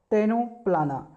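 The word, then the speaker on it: Ctenoplana: इसका right answer आप इसे कह सकते हैं टेनो पलाना टेनो पलाना का स्पेलिंग होता है सीटीई एन ओ पी एल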